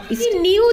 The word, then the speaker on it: know: न्यू that यानी वो जानता था कि, ही यानी वो, न्यू यानी जानता था, देखो KNOW नो, के साइलेंट है उसमें, नो यानी जानना, और न्यू यानी जानता था, दैट यानी के।